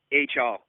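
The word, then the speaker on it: Achal: H.L. It's spelled A-C-H-A-L.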